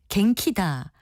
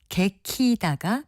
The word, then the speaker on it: 개키다: 실제로 갱키다라고 하는 분들이 많은데요. 개키다가 표준어입니다. 개키다는 이불을 개키다 외에도 옷을 개키다 같은 표현으로도 씁니다. 개키다를 갱키다로 발음하게 된 것은 아마도 두 번째 음절의 초성 키읔과 조음 위치가 같은 이응 받침을 넣어서 발음하는 편이 더 쉽기 때문에 나타나는 현상으로 보입니다.